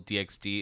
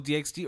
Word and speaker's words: DxD: know I mean I I always pronounce the X and Hunter x Hunter and spyx family so